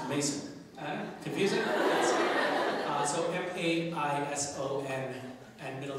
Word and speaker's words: Maison: Mason, but it's spelled the French house, Maison, but it's pronounced Mason.